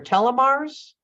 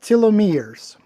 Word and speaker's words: telomeres: it in in and elongates your telomars um they're pronounced telomeres thank you thank you for